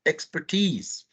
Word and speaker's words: expertise: Just this word, remember, is pronounced expertise.